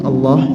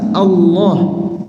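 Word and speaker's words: الله: pembahasan khusus di belakang perhatikan tasdid pada lafal Allah karena bermudah-mudahan dalam pengucapannya dapat mengakibatkan hilangnya satu huruf lam jadi tasdid itu Gabungan dua huruf Ya seperti ini Allah berarti alif lam lam ha alif lam lam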